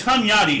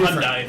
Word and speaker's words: Hunyadi: No, no, it's it's it's Hunyadi, sorry, not Hyundai. it's different. Hunyadi, I I completely misspelled mispronounced his name.